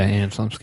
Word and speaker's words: Anna Chlumsky: the Loop, The Thick of It, and Veep, Anna Chlumsky popped up. I think I'm pronouncing her name. Yeah, Anna Chlumsky.